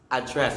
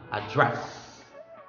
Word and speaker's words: address: When you say address, address, it means speech. For example, welcome address. Something like that. Okay? Again, address, location, address, speech.